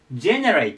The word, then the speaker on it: generate: さっきとあとねさっき RA の上にえっとアクセントがあったんですけどこっちはね最初に行きますここ generate と言います generate ででこれ